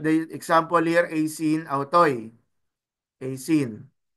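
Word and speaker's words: αὐτοῖς: So like the example here, asin, autoy, asin. The purpose of adding the nu was to avoid pronouncing two successive vowels. So you do not read it as AC autoy. Rather, it becomes asin autoy.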